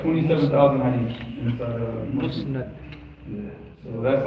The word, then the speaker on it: Musnad: Musnad.